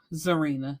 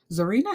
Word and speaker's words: Zarinah: favorite but child okay so let's start with zarena that's how I'm pronouncing it it's spelled z a r i